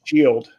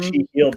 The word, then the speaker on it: SHEALED: Shield. It's spelled SHEALED. Wow. And the heal is in big letters, so it's She Healed together.